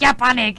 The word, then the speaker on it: Ja Panik: And it's not like the way you say it's like yeah panic. It's I don't know. It's probably kind of French to me. But yeah, that's how you pronounce it.